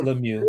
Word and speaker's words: Lemieux: Is that how you pronounce it, Lemieux? I've been calling him Lemieux for years. Nah, it's Lemieux.